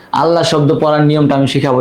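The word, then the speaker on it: الله: আল্লাহ শব্দের লাম পড়ার বিবরণ দেখেন। আল্লাহ শব্দের লাম 2 ভাবে পড়তে হয়, এক পুর বা মোটা করে, বারিক বা পাতলা করে।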